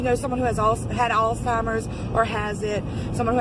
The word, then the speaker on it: Alzheimer's: don't say it right, it's not got a T in it, it's Alzheimer's, but it's taking these memories away from somebody.